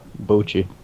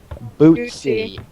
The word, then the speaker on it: Bootsy: People say like Boochie. Oh. yeah, it's funny. There's one C in my name, guys. Bootsy.